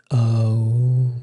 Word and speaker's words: Om: This expression, like the sound of a bell, is because when you chant Om, it's Aum. So this, when you do it's A-U-M, A-U-M, Aum.